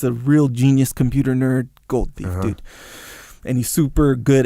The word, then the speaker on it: Goldthwait: So this gold thief, but he's a real genius computer nerd gold thief, dude, and he's super good at hiding. The way you pronounce that, you're like gold thief.